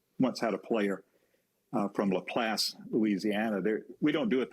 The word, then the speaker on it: LaPlace: When I saw it, it's capital L-A, capital P-L-A-C-E, that I was pronouncing LaPlace. Well, LaPlace, Louisiana, because of the French influence.